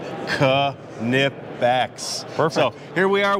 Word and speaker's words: Knipex: show and I have Craig with us from canipex and that is the proper pronunciation Ka nip backs perfect so here we are we are demonstrating